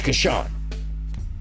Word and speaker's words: Kashan: You can put them in a note, just like I have still to this day, reminding me that Kashan's name is Kashan. I wrote it phonetically, Kashan.